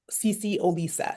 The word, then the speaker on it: CeCe Olisa: Um yeah, my um my name is spelled C E C E O L I S A C C O Lisa.